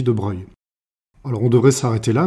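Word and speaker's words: de Broglie: grand physicien français Louis de brugly ça s'écrit mais on dit de Breuil alors on devrait s'arrêter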